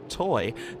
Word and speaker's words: Toj: the toy SC 304 yes it's toj but it is apparently pronounced toy Dennis and Mark Bush